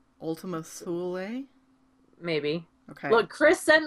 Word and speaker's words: Ultima Thule: rhymes with dually, Ultima Thule?